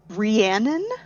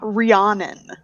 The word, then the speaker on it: Rhiannon: Rest assured, it is Rhiannon, not Rhiannon. Yeah. But it has that O sound. I really want to pronounce that O. They really do. It's the wrong pronunciation of that letter O.